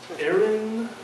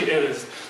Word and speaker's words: Erez: So, my name is Erez. So they go, Erez, Aaron, Erez. Well, I'd love a raise, chief, but it's actually Erez.